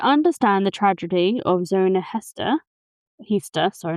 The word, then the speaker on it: Heaster: So to understand the tragedy of Zona Heaster Heaster, sorry, not Hester, Heaster.